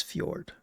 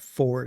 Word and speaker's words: Fjord: Gret is Fjord. And then Fjord's not Ford, it's Fjord.